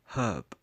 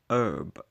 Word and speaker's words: herb: think Moscow sounds better number four herb or as Americans would say herb I don't understand why the H becomes silent herb reminds